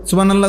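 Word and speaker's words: سبحان الله: বা এটা কলকলার হরফ, সুব বা এটা কলকলা করতে, হা এত হলকের মধ্যখান থেকে উচ্চারিত হইতে হবে। সুবহানাল্লাহ সুবহানাল্লাহ করলে হা তো উচ্চারণ হয় না, তাতে অশুদ্ধ।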